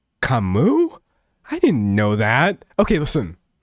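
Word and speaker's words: Camus: Someone said, "I've never heard Cameas pronounce like that." Okay. I Dude, I should just never say names out loud. To be fair, I always Google them. Oh, it's Kamu.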